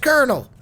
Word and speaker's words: colonel: And PS, Connell is pronounced colonel, like popcorn kernels or the highest ranking battlefield. Doom doesn't know how to say no. It's pronounced colonel.